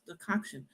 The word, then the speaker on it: decoction: Decoction, decoction, decoction, decoction, just to get my brain to connect the word, the way it looked, with the way it was pronounced.